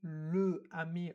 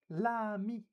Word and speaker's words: l'ami: starts with a vowel, we actually change le, la, with the L apostrophe to make the pronunciation smoother. So we don't say le ami or la ami, we would just say l'ami, l'ami.